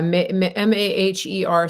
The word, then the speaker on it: Maher: How do you pronounce it? Mayor Bitar, yeah. Yeah, Maher.